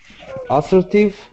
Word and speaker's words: assertive: Assertive. Assertive. The stress is on the second syllable, assertive.